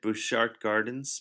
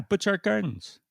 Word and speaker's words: Butchart Gardens: Bouchard Gardens? Bouchard? Butchart. They're not called Butchart, are they? Yeah, Butchart Gardens.